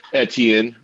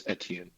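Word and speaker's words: Etienne: didn't happen Edan though Travis edian the proper French pronunciation thank you very much eten um I refuse to say it the other way because I'm an educated man um edian etan Travis etan all right high rollers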